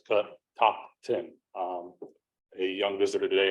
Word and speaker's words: Catoctin: Native American word so it feels like it's calling the back of your throat you're actually saying it right so it's cut top ten um a young visitor